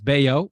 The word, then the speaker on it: Bello: But it's Bayo. It's how he pronounces.